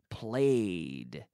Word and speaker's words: played: hockey and last winter I played played so no extra syllable but I played hockey